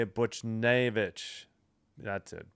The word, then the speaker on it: Buchnevich: Buchnevich. That's it, Buchnevich.